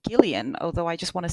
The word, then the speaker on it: Gillian: It's Gileian although I just want to say Jillian but it's Gillian apparently.